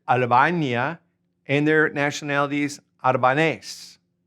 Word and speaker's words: Albania: All right, now Albania is same in Spanish, pronounce it Albania, and their nationality is Albanese.